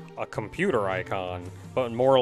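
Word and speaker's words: Eikon: at home not icon icon like acon kind of thing it's e-i-k-o-n but it's pronounced icon yeah it's not icon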